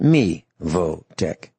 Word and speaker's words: Mevotech: It might look like it's pronounced Mevotech.